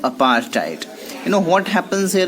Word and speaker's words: apartheid: of opposing a system of say Grayson called apart hit apartheid you know we will have to pronounce this the correct bones on the way